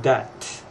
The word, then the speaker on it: debt: Be careful with the term debt, which is money owed. And this is not a spelling problem, but a pronunciation problem. So debt is spelled D-E-B-T.